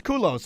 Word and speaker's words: Culos: bad I think I even said your last name wrong it's kulos right that's right all right all right all